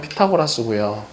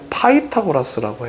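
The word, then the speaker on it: Pythagoras: 자, 그리고 미국식 발음으로 하면 피타고라스고요. 자, 힌트. 아, 힌트가 아니라 질문. 영국식 발음은 뭘까요? 삐딱라스. 그건 인도식 발음 아니에요. 삐딱라스. 이거는 뭐의 영국식발 영국식발은 파이타고라스라고 해요.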